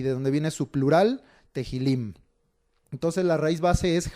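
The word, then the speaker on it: תהילים: libro de los Salmos es Tehilim o Teilim, es con una H ahí. Por eso a veces yo las H's, al ser los términos en hebreo, tiendo a marcarlas, a hacerlas notar, para que pronunciemos un poquito mejor los términos. Entonces el nombre hebreo es Tehilim, es plural de la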